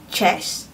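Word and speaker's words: cześć: that word here so the first word is chest chest chest is hello so yeah definitely I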